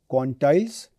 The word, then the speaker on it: quantiles: Please be careful in my pronunciation, quantiles and quartiles.